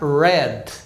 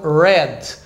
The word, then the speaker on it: red: então o exemplo aqui a palavra Red o vermelho som do R é er igual do caipira então Red aqui Rose aqui rat